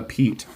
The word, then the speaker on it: Piet: Vox designs but the people at crkt say Pete and so I am saying Pete and that's the end of it when we